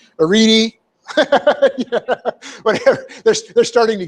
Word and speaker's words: Arete: Which, of course, the people that make the announcement can never pronounce, right? Arete, yeah, whatever.